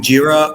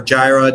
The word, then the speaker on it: Jira: build almost everybody's either using jira or Gyra depending on your pronunciation or they're using the